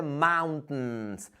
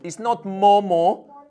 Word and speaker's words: mountains: It's not Momo. It's not Momo. It's mountains. But no T. No T. There is no T here, my friends. This letter is silent, guys.